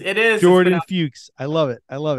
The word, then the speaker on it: Fuchs: great ice breaker is it rhymes with pukes so it's pronounced fukes it is Jordan fukes I love it I